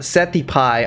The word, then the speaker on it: Seth Hype: And on Instagram, Seth Hype 13. Pronounced Seti Pie.